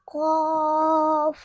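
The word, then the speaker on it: ق: Qaf. Good. MashaAllah. Student pronounced that correctly. And this is a Lahwiya letter. It's pronounced from the root of the tongue, touching the soft part of the palate, meaning top of the mouth.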